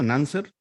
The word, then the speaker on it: Nanzer: A ver, el turno de Nanser. ¿Está bien Sí, pronunciado, Nanser? cáncer, como, Ah, como bien, suena.